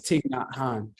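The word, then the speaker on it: Thich Nhat Hanh: wrong for raw but it's tick not Han that's how you pronounce his name but he's a Buddhist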